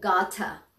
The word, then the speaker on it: gotta: okay، gotta لما بتيجي تنطقها الدبل تي مش بنقولها gotta. okay، بنقولها gotta، يعني التي بتتنطق زي الدي.